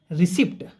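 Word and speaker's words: receipt: रिसीप्ट रिसीप्ट नहीं होता इसको बोलते हैं रिसीप्ट। क्या इसको क्या पढ़ते हैं? Pronunciation रिसीप्ट। स्पेलिंग क्या होती है इसकी? आर ई सी आई पी टी। इसको क्या पढ़ते हैं? रिसीप्ट। रिसीप्ट नॉट रिसीप्ट।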